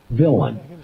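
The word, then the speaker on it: villein: Law Dictionary it's spelled it has an unusual spelling because it's French in origin but we say it villain it's spelled v i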